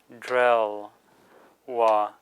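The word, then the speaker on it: འབྲེལ་བ: A-o, ba, rata dra, drangbu dre, la, drel, wa, drelwa is connection. Notice here the ba as the last syllable of a word changes to wa. So it's no longer pronounced ba but wa.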